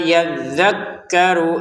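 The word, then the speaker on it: يَذَّكَّرُ: Wama yadzakkaru illa. Nah wama dua harakat panjang. Yadzakarunya pendek. Dalfnya ditekan ya.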